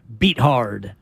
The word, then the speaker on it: Beathard: them was for CJ beat hard which by the way I would pronounce it beathard too right if I spelled my name beat hard yeah it's